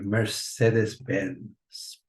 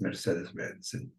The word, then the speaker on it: Mercedes-Benz: go to show you Mercedes-Benz. In Spanish, it's pronounced Mercedes-Benz. In English, it's Mercedes-Benz, as we all say it.